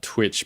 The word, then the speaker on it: Twytch: You made Mopo, another thing called Synth, another thing called Salad, another thing called Lisa, and then something called Twitch, but it's spelled TWYTCH.